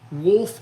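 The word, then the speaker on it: Wolff: This is a twice as sharp, and it's by Wolf Industries, and Wolf is spelled W-O-L-F-F, Wolf Industries, and they're out of Spartanburg, South Carolina.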